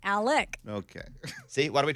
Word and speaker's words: Alex: he's an announcer dude that was doing the Alex murder one, but then he got Alex wrong. It's Alec.